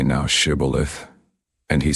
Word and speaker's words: Shibboleth: Then said they to him, Say now Shibboleth. And he said Sibboleth, for he could not frame to pronounce it right.